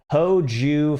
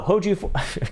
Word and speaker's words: Hoju: all right hoji says you always say my name wrong it's hoju 42 oh hoju god damn oh [